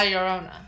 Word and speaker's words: Llorona: But I say it's like in Spanish, when there are 2 double L's, it's like a Y.